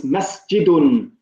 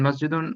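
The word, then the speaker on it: مسجدٌ: So make sure you're pronouncing the last vowels. It's masjidun. Okay. So do you want me to first say masjid and then masjidun, or? No, I just want you to pronounce it with all the vowels, even the last vowels, the tanween on the end.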